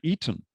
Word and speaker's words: Aten: a reed glyph, and the reed glyph is more accurately pronounced as an E rather than A. So the god is called Eten, and he should be called Pharaoh Akhenaten, not Akhenaten.